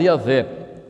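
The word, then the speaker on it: Javé: das vogais de Adonai por isso pode ser pronunciado yavé porque cresce que com as quatro consoantes lá não se poderia pronunciar yavé o quer dizer o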